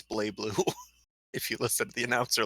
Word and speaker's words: BlazBlue: yeah blasts blue actually it's bleh Bloo if he listed the announcer later she they thought she doesn't even pronounce the Z it's not my problem it's just bleh Bloo it's my call to raid alien 51 words